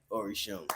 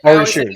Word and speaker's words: Orisun: People fuck up the name all the time, but it gives us a chance to be like Orisun. Right. Orisun, got it. Every show. Yeah. I had the pronunciation right in front of me, and I still fucked it up.